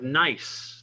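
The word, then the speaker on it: gneiss: temperature next we have nice the g is silent not good nice but nice it's a foliated metamorphic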